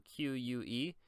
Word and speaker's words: que: And then the other interesting part right here is the que, right here, the que. So whenever you say UE with a Q right here, so QUE, it's just pronounced as que.